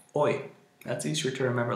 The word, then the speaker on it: hoy: english speakers sometimes say hoy or something like that hoy try to just say oy as just move the h after the o and like o and then the the pronounce the y oy that's easier to remember